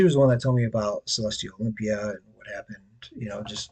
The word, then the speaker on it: Celestyal: It's Celestial. It's spelled with a Y instead of an I.